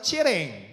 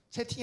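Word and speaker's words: cheating: 우리나라 콩글리시로 컨니, 영어 본토 발음으로 치에랭 이렇게 얘기하죠. 네, 치에랭. 네, 이렇게 얘기합니다. 채팅이 아니에요.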